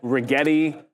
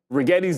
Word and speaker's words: Rigetti: That Rigetti still chilling.